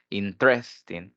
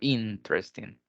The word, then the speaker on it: interesting: que lo lo dice interésting pero es al inicio interesting interesting porque si lo